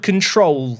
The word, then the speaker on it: CTRL: It's called control, which is like spelled like the k the control key on your keyboards like CTRL.